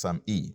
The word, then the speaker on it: SAMe: small letter e is spelt as same but pronounced some e okay that's s adenosine methionine s adenosine methionine